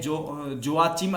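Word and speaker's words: Joachim: जोकीम Alva, ये pronunciation में थोड़ा सा है, जोआचिम अल्वा या जोकीम अल्वा इसको कहा जाता है।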